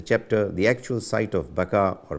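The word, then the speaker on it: Baca: still further as to whether the mention of baka b-a-c-a or b-a-k-a in the Psalms chapter 84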